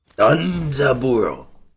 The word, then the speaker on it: Danzaburou: DANZABUROU.